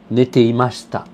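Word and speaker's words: 寝ていました: Et c'est pas nemashita, c'est pas neta. Ça s'assimile plutôt au passé composé, si vous voulez. Ok? Alors, cette forme en fait d'imparfait, elle s'écrit comme ça. C'est ne, te, i, ma, shi, ta. Nete imashita.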